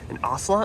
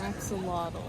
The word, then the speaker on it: axolotl: I think there's an ocelot is what you said, what that thing is? Axolotl.